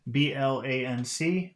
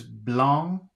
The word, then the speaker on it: blanc: G first word is b-l-a-n-c Blanc Blanc an X word is b-l-o-n-d blonde so the first word is blong but the next word is blown a little bit different